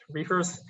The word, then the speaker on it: RFRS: of reefers groups so rfrs stands for residually finite rationally solvable pronounced reefers so the residually finite